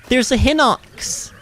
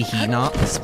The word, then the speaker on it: Hinox: Oh, God, there's a Hinox. I think you're supposed to say Hinox, but no. It ain't no He-Man, okay? It's spelled with an H-I, it's He. It's He, not He.